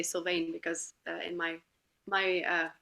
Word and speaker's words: Sylvaine: the name that they would know would be pronounced like that but I always say syane because in my my uh mind it's like